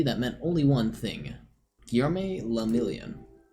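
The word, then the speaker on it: Guillaume Le Million: meant only one thing guillerme lamilian if it doesn't rhyme you're not pronouncing your rights oh out of the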